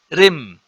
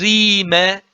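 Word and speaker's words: ⲣⲓⲙⲉ: This is not Rim, this is Rime in Saidic or Rimi in Buharic. Noted, okay? So the Coptic tells me that there is a vowel in between here, which is the I, iota.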